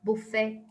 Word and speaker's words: buffet: will say for example it has t at the end but they will never pronounce the t so buffet ballet so they they